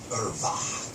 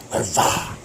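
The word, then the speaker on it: עֶרְוָה: It's pronounced Irva. Irva.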